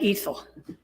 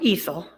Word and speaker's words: Ethel: go meet uh Aunt Ethel now it's spelled Ethel but she insists on ethyl because Ethel sounds like a kind of gasoline you know oh okay